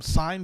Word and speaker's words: sine: It's it's uh they're they call them sign bases. Uh s i ne, right?